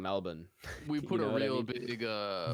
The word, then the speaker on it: Melbourne: It's it's like we say Melbourne when it's Melbourne. Yeah, Melbourne. Yep. So yeah, just found that out the I other feel like day. an asshole walking around saying Melbourne.